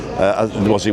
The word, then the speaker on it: H: Because H isn't spelt with an H; it's spelt with an A. A-I. Oh, yeah. I can't even know how to spell H now. A-I-T-C-H. A-I-T-C-H. You're right.